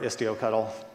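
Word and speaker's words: istioctl: so this do cuddle I'm gonna go with the the cuddle pronunciation like Kelsey hot tower does for coop cuddle it's managed it's used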